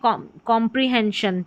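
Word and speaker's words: comprehension: तो इस तरीके से एन के बाद में श साउंड के लिए एस आई एन लिखना है, पढ़ना है।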